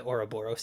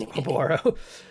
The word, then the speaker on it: Oboro: captain of the oroboramaru I put way too many syllables it's not the oroboros it's just a borrow Dr brigetsu I'll report